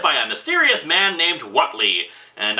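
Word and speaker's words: Whateley: a mysterious man named what lee and i know i'm supposed to pronounce it weightly after the minor character from one hp lovecraft story but screw that this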